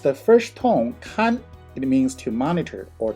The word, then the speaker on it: 看: here in the animated image when it is pronounced the fourth tone cut it means to look to see to watch or to visit when it is pronounced the first tone khan it means to monitor or to supervise the